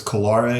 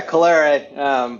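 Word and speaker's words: Colere: I would always say it wrong. Like, did you say it is Calare? Is that correct? Yeah, Calare.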